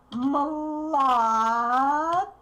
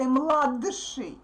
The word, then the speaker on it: младший: Младший. Младший. Look, I don't pronounce D clearly. I don't pronounce its voice because the following consonant is voiceless.